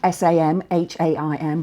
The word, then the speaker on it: Samhain: to do and thinking about, well, what does Samhain mean? Now, I just want to remind you, it's spelled Samhain, S-A-M-H-A-I-N, but it's pronounced Samhain.